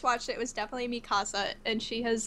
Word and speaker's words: Mikasa: the thing is like if you're pronouncing her name as a Japanese speaker the way the syllable like like strength Falls it should be Mikasa but like if you're an English speaker it just flows better to say mik so